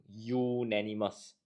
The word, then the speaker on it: unanimous: take note when you when you pronounce unanimous it starts with a y u unanimous as such it we will consider this a non Vel and looking at honorary